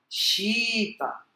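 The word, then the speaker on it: शीत: O que importa é que o som é Shita. Tá? Aí, se a gente fosse escrever em português, seria I em vez de E. Não é Shita.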